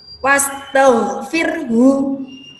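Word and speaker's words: واستغفره: akhir ayat ada kalimat wastaghfirhu nah perhatikan huruf haknya wastaghfirhu itu jikalau dibaca ia berhenti atau kita kalau memilih menghentikan bacaan di kalimat wasto sirruhu maka haknya harus di disukun ya Hai dengan cara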